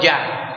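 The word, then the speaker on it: Yahweh: está en español ya en hebreo es la yud y la ge que se pronuncia ya Okay aquí en español lo ponen como Ja como una J no es con una J es una yud y una ge es decir suena ya Okay entonces quiere decir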